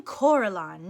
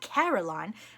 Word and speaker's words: Coraline: they get things wrong they got your name wrong you know they kept saying Coraline not Caroline not Caroline at all he picked up